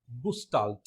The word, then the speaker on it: Gestalt: this is actually a german word that is pronounced as gustald okay not just alt what is this german